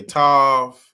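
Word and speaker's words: תו: And they they pronounce it with a V. They're going to get into it a little bit, but you see right here they say Tav.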